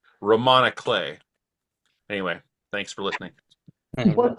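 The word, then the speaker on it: roman à clef: In a previous class, there was a word I had never heard before, Romana Clay, spelled like Roman A. Clef.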